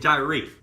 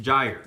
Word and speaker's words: gyre: never heard of this word gyre I first pronounced it die reef but you actually pronounce it gyre you are going to hear this term a